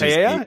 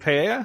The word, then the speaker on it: paella: Which paella? Is it paella? Is it paella? Okay. Yeah. I guess the L's are silent.